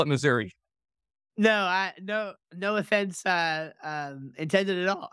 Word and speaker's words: Missouri: Well, I pronounce it Missouri, but I am not a local or a native, I should say.